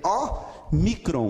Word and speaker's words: Ômicron: Ele vai ser lido em português como nó. Como a letra O em nó, ok?